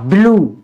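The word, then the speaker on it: blue: ई यानी लास्ट में अगर य ई आता है तो ऐसे शब्दों में हम हमेशा उ की मात्रा से पढ़ते हैं बड़े उ की मात्रा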